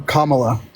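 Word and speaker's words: Kamala: time okay so why are you voting for kamla thank you for pronouncing her name right baby right so I'm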